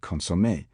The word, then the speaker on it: consommé: Sometimes Americans will throw accentuation further forward than we do, onto the first syllable of foreign words like consommé and du bonnet, though they might argue that their practice sounds at any rate less defiantly non-French than ours.